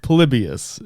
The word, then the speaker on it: Polybius: It's it's a Palibius is how it's pronounced.